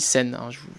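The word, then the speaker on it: 線: Une ligne, en japonais, ça se lit sen. Par exemple, dans Shinkansen, ou Yamanote-sen, la ligne Yamanote, vous voyez que c'est la même prononciation.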